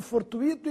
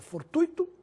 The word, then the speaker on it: fortuito: Nada de fortuito e gratuito. A forma correta é fortuito e gratuito, sem acento.